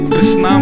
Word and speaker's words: कृष्ण: कृष्ण लाल की बंधुओ कई लोग इस नाम को अशुद्ध बोलते हैं कई लोग कृष्ण बोलते हैं कई लोग कृष्ण बोलते हैं कोई कृष्णा बोलता है भगवान का नाम शुद्ध उच्चारण करो नाम क्या है कृष्ण भगवान जय श्री कृष्ण